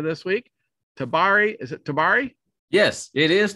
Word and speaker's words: Tabari: introducing our headliner this week tabari is it tabari yes it is tabari good work sir dabari mccoy yes my first